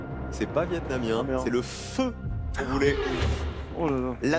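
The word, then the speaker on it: phở: Le ramen ramen, c'est japonais, c'est pas vietnamien, c'est le feu voulez. Oh là là ! La soupe feu.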